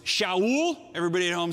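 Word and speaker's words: שאול: and Pulse it's all in Hebrew was Showell everybody know him say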